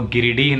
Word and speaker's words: गिरिडीह: पहले मैंने गलत प्रोनाउंस किया था, दो दिन पहले गिरीड़ बोला था, वो गिरिडीह नाम है जगह का, मुझे पता नहीं था।